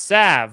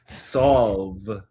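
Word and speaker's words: salve: For future reference, it's pronounced "sav". Well, then why is there an L in it? Solve.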